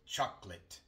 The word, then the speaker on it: chocolate: Se dice chocolate. Chocolate. Chocolate. Chocolate. En todas estas palabras se omite la vocal que viene antes de L o R en una sílaba no acentuada.